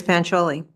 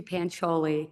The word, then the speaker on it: Pancholi: just thank you Miss pancholi good evening you did say it right thank you good evening my name is pancholi thank you to the